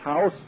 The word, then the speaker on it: House: was a colonel h.a u.s pronounced house representing uh woodrow wilson